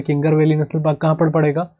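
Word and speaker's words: कांगेर घाटी: वैसे इसको कई लोग कांगर वैली भी कहते हैं, वैसे प्रोनाउंसिएशन एग्जैक्ट बोलेंगे तो कांगर वैली नेशनल पार्क है, कई लोग इसको किंगर वैली कहते हैं, किंगर वैली। किंगर वैली गलत है, पर याद रखने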